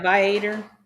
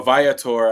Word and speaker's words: Viator: I mean, we did check these in what is it, Viator? Is that what it's called? Yeah, Viator. Um, or Viator. I think that's the correct way to say it.